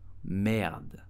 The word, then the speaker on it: merde: English say shit, but how do you pronounce correctly this word in French? You would say merde.